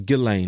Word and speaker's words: Ghislaine: Man, they was talking about like Ghislaine, or is her name Ghislaine? I think it's Ghislaine. That's how you pronounce it.